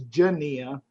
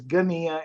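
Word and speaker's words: γενεά: I mean, there's some people that pronounce this Genea, but the Greek word is Genea, and it basically is always referring to the contemporary generation when Jesus is speaking.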